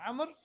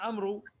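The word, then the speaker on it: عمرو: is did the Arabs of old, all of them without any exception, pronounce it as Amr? Or was there anyone amongst them saying Amru? Because if they pronounced it as Amru, then khalas, then we can just take it to dialect. That's in some dialects as Amr and others as Amru.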